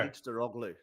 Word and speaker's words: Kılıçdaroğlu: not brave enough to try to I've spent pronounce. a week learning how to do it. Okay, It's go. Kılıçdaroğlu.